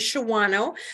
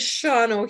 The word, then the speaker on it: Shawano: do drive over here your uh Google Maps will tell you that it is Shawano but we pronounce it as shano here our town is about